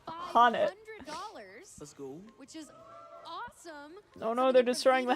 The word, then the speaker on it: Han: It's pronounced Han.